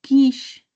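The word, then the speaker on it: quiche: Un quish. que bueno se escribe quiché, ¿no? Pero un quis que es como se pronuncia un quish de poro.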